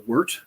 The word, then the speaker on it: wort: liquid that we call Wort which is unfermented beer w-o-r-t pronounced with an e-w-e-r-t so it worked we'd